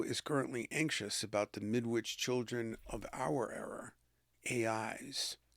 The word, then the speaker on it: Midwich: Interestingly, the name midwich sounds much like midwife, but with the emphasis of witch, modifying the second syllable.